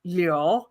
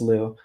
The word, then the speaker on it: Liu: They just like cannot like it's but technically in Chinese it's Liu, but Really? nobody can say that. So I'm like, it's Liu, Wait, right? teach me how to say it. How do you say it? Liu. Leo, just like that? Kind of it's a little bit faster.